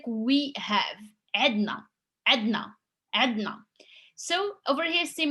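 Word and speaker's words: عندنا: have عدنا, which is actually we mostly like pronounce it عدنا without like the first N. It's just because for pronunciation it makes it easy, and this is like we have عدنا عدنا.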